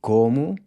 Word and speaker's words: como: The O in como, I eat, is also pronounced with a closed O, so nothing changes here.